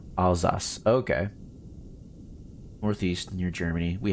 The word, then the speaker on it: Alsace: Now you pronounced it right, though. It's more Alsace.